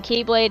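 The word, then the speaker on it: χ-blade: And by the Keyblade is pronounced It It It's pronounced Keyblade, but it's spelled Xblade.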